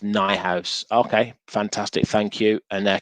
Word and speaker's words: Neuhaus: He speaks German. It's pronounced Neuhaus.